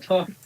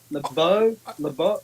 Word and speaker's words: LaBeouf: Is it LaBeouf? LeBeau. I'd say Shia LaBeouf. I'd say Shia LaBeouf, and people know who you're on about.